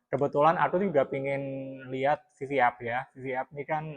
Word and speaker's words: VVUP: aku juga pengin lihat VV app ya VV app ini kan ee salah satunya bacanya bbap Ya bbap ya bacanya bbap vvap eh vvap itu kan